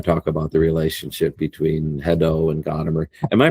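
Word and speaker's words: Hadot: And I mean if you really want to be French with a nonaspirated h. So you know ado.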